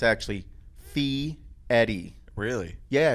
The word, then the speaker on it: Fieri: knew I caught it Fieri yeah and it's not it's actually fee Eddie really yeah it's yeah like Eddie like the name Eddie mm-hm with a fee